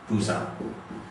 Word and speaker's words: Busan: Occasionally it will be a soft P and hard B. Okay? And the example of this is Busan. Okay? Busan used to be spelled with a P, now it is spelled with a B.